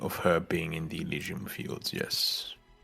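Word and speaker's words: Elysian: Now, we know how to pronounce that from a Greek perspective. It's It's the English It's the English pronunciation. Yeah. It's not the Greek one.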